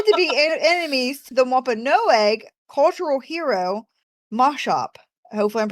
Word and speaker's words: Wampanoag: Can't pronounce it. Thank you, the Wampanoag.